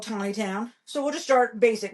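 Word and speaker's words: Taneytown: So there's this place in Maryland called Tawny Town, right? It's spelled Taney. It's spelled Taney. It's spelled Taney town, right? Taney Town. Ugh.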